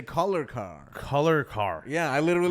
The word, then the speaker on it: Kolarkar: Kolarkar? Yeah, Kolarkar. Oh, Kolarkar. Yeah. I knew I was missing a one vowel probably. No, it's good. I tell white people to say collar car.